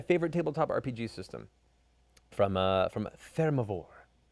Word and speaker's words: Thermavoire: From Thermivore. Thermivore. That's fine. It sounds like it's like Theramore, which didn't do so well in the lore of World of Warcraft.